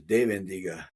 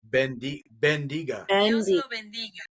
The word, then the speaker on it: bendiga: I thought it was dendiga.